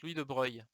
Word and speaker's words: Louis de Broglie: Alors Louis de Broglie, ça se prononce Louis de Broglie.